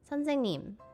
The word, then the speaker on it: 선생님: 선생님. But in order to pronounce it, it's more like se, and then the ng, and then 님 is like E-double-E-M.